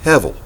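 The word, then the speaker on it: הבל: the wind comes from the Hebrew word Hevel heb e el but it's spelled as if the B was in V heaven and what have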